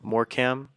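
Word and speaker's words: Morecambe: match excuse me against um more cam that's how you pronounce it they're the fighting shrimps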